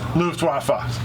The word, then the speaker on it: Luftwaffe: us that it was Luftwaffe is wrong. So that's who we get for listening to you, our viewers. Thanks for that. Making us look even dumber. Apparently, it is Luftwaffe, as we've always been pronouncing it.